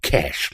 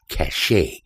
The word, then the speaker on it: cache: drive by the way it's pronounced cash like money not cache I have to chuckle